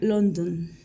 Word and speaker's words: London: si no existiera ejemplo London donde la o fue reemplazada por la e suena London donde no hay que pronunciar ninguna vocal en la última sílaba sino pronunciar la d